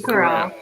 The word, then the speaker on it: Carell: Steve Carell. Yeah, Steve Carell. Okay, was it Steve Carell, Chris Rock, Jay Farrow, or Eddie Murphy? Steve Carell, Chris Rock, Jay Farrow, or Eddie Murphy?